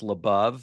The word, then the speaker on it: LaBov: my last name is labov so you go give a heck so people understand it I have gone labove and Beyond which helps people pronounce labove so it's labove and Beyond which is